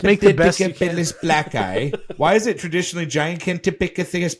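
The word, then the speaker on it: Gigantopithecus blacki: The word that you're gonna have trouble with is pronounced Gigantopithecus blackeye. Why is it traditionally Gigantopithecus blackeye?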